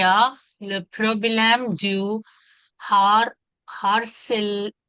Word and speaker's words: harcèlement: En plus, il y a le problème du har, harcèlement. H is silent. H is silent. Harcèlement.